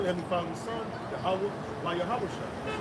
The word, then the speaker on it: Yahweh: But it's really Yahweh. Right. Right? Yahweh is how you say it.